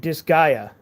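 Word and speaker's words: Disgaea: This guy uh Oh, dis Disgaya.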